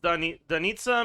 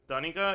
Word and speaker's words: Danitsa: Uh it's a Slavic name pronounced Danitsa meaning morning star, but Russians pronounce it and write it as Danica.